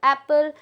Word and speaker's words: apple: That is apple. Okay, means very less stress on first alphabet, that is A, but on double P we need to speak more.